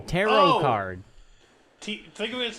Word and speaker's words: tarot: Tarot card. Think of it as T-A-R-O. The T at the end is silent.